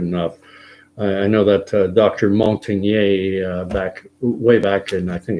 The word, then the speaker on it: Montagnier: I'll spell that for you because Luc is L-U-C, it's French. Montagnier is Montagnier.